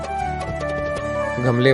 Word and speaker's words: गं: गणेश वाला गणपति वाला गमले वाला और उस पर बिंदी गम उसका उच्चारण गंग भी कर सकते हैं।